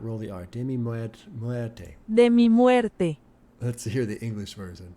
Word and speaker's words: muerte: Demi muerte.